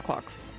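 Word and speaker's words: GQuuuuuuX: I think it's I think it's Quarks. Um like rhymes with Flux.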